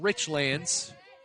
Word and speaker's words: Richlands: in two strikes because anybody else would say richlands but it's rich lands make sure you get that right if you ever come